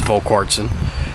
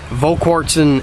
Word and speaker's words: Volquartsen: even pronouncing that right I believe it's volquartsen volquartsen exact Edge extractor which is